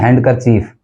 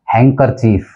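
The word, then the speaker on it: handkerchief: बोला जाता है हैंडकरचीफ, हम इसको बोल देते हैं हैंडकरचीफ, जबकि एक्चुअल में जो इसका प्रोनाउंसिएशन है वो होगा हैंकरचीफ, हैंकरचीफ, क्योंकि डी इसके अंदर साइलेंट है, तो इसका जो करेक्ट प्रोनाउंसिएशन है वो है हैंकरचीफ। अब देखिए 19th जो वर्ड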